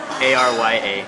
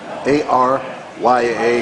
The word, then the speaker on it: Arya: A-R-Y-A. A-R-Y-A, yeah. and it's pronounced? Arya. Arya. Like from that girl in Game of Thrones.